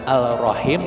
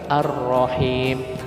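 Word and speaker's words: الرحيم: hukumnya alif lam syamsiah alif lam matahari saking silaunya l nya nggak kedengeran saking kuatnya dengan kalimat roh ini makanya tidak dibunyikan ar-rahman bukan Al Rohim tetapi arrohim lanjut kakak yang benar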